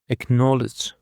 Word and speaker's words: acknowledge: And now for the fifth word, we have got acknowledge. Acknowledge. The stress is on the second syllable.